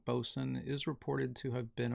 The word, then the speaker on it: boatswain: Basically, it's bosun. Formally and dialectally, also boatswain.